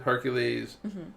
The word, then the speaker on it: Hercules: Now, I guess the correct pronunciation would be Heracles because well, it's Mother's era. If it's Greek, Greek is Heracles. But I'm American. Say it all how I want to say Hercules?